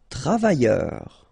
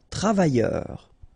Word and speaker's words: travailleur: Travailleur. Okay, remember, double L, yé, and then E-U-R, heure. Travailleur. Travailleur.